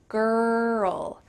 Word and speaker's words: girl: There's 2 parts to this word, ger and ul. The girl, girl.